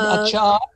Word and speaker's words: achar: I guess the word achar, the word achar for pickle is in Afrikaans. They pronounce it acha because they don't pronounce the R, acha, achar.